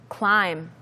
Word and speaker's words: climb: 뒤에 나오는 B가 발음이 되지 않습니다.